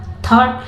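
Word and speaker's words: thought: GST के पहले है तो उसको पढ़ते हैं थॉट, लेकिन ये बोला जाता है मतलब GS साइलेंट रहता है लेकिन लिखा जाता है, ठीक है।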